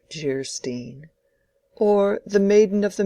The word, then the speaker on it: Geierstein: Anne of Geierstein, pronounced Geierstein, or The Maiden of the Mist, by the author of Waverley.